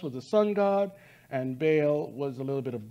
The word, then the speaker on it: Baal: And Baal was a little bit of both. So this goes into many different origins, Mesopotamia, Canaanites, Hittites, and other civilizations. And Baal, or Baal, is the correct pronunciation, is the prince and the power of the air.